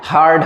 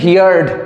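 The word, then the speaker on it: heard: শোনা গিয়েছিল মানে হচ্ছে হিয়ার, হিয়ারের থার্ড ফর্ম হার্ড হয়, উচ্চারণটা কিন্তু হিয়ার্ড এরকম করবে না, বিচ্ছিরি ব্যাপার হয়ে যাবে, ওই উচ্চারণটা কারেক্ট নয়। কি করতে হবে? হিয়ারটাকে বলতে হবে হিয়ার্ড নয় হার্ড বলবে, হার্ড।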